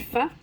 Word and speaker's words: faux: It's actually pronounced pho, P-H-O.